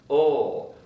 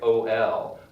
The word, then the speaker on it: will: word after a subject, you can just do ul. And it's pronounced ul. I'll get the phone. I'll get the phone. You can also get even a little bit lazier and say, I'll get the phone, like O-L.